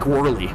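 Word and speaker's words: Whorley: And this guy, his name is uh Mike Worly with like spelled like W H O R L E Y.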